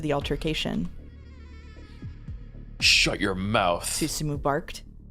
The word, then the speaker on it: Susumu: Its current leader is Suzumu Nishizawa. They really gave you a VN that was going to force you to learn Japanese pronunciation, didn't you? Didn't they? I'm sorry. Yep. I mean, yeah, Susumu, but the other men standing around looked distinctly